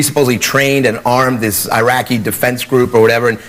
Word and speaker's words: Iraq: protect them so and we never even pronounce the country right and we called it Iraq it's not Iraq it's Iraq Iraq sounds like that's not the point